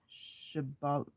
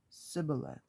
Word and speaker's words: Shibboleth: If he said no, they would tell him, "Then say Shibboleth." But he would say Sibboleth because he couldn't pronounce it correctly.